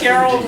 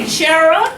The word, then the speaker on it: Cheryl: And then one day I heard somebody say, Cheryl? Because in New Orleans, Cheryl doesn't have an L in it. It's Cheryl.